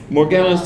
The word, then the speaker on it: Morgellons: does she thinks she has that disease right more more gallons how do you say it Morgellons disease if people don't know it's a disease